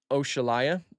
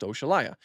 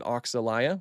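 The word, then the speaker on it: Oxalaia: You know, I pronounce it Oshalaya because it's named after the African deity Oshala. So it's literally pronounced Oshalaya. A lot of people like to pronounce it Oxalaya, which is fine too.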